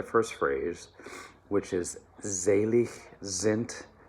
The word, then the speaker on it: sind: phrase which is zelie zint d tolton all right so there's z sounds zelik zint all right um and then zent ends with a t um sounds of an